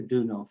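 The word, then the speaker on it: Deunov: great bulgarian spiritual teacher peter dunno for pronounced peter dunov here in the west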